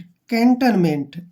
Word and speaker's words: cantonment: सी ए का प्रोनाउंस हम क्या करेंगे? कै और ए के रूप में, ठीक है? एन को हम आधा नया लिखेंगे, टी को टे लिखेंगे, ठीक है? और ओ एन का उच्चारण हम नए करेंगे ऐसे। कैंटेन, क्या पढ़ेंगे इसको? कैंटेन। अब देखिए एम ई का जो उच्चारण है मे के रूप में लिखते हैं और एन को आधा नए और टी को टे। मेंट, कैंटनमेंट ऐसे। क्लियर?